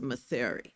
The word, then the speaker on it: Mathare: the judges went to Mathare. I said it right, Mathare, or did he Mathare?